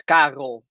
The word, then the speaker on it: Karel: You say it as Karel. You have to really say the R.